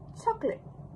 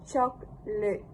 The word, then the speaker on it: chocolate: If if you were to pronounce the word without eligion in its full citation form, it would be chocolate. Chocolate. Chocolate. This longer form retains the schwa and possibly a final vowel depending on accent or careful speech. However, such pronunciation is rare in everyday conversation especially in British English.